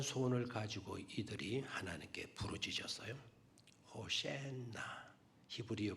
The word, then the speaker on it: 호산나: 호센나 히브리어 발음으로는 호센나. 그 시편 118편 25절에 호센나 호센나. 우리나라 번역하는 우리는 이제 호산나 호산나 이런 식으로 우리가 읽기도 하고 그렇게 읽게 되겠죠.